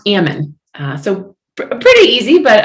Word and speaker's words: Ammon: um my surname or my last name is pronounced ammon uh so pretty easy but uh can be